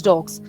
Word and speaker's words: dogs: But in the case of dog, g is a voiced sound. It won't take sir. So we'll take z in pronunciation. So it becomes dogs.